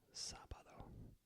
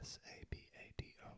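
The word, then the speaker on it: sábado: Thursday hes Friday be Saturday sabado Sab accento on the a s a b a d o sabado and Sunday is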